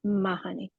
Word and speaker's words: Mahoney: the commissioner from DOER, Elizabeth Mahoney is how she pronounced her name, Mahoney.